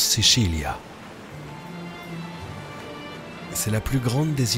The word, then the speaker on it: Sicilia: En italien, on prononce Sicilia.